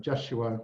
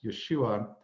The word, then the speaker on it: Yeshua: And when he speaks through her, he uses his given Hebrew name, which is Jeshua, or sometimes pronounced Yeshua.